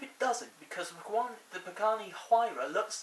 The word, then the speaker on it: Pagani Huayra: i previously blogged about the Pagani Huayra that is how you pronounce it by the way I found out since